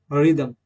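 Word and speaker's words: rhythm: की रिना सरस नारस रिना सरस next example रिदम रिदम रिदम देखि दोस्तो आ के बाद य पर साइलेंट यहां पर दोस्तो देखते हैं जी के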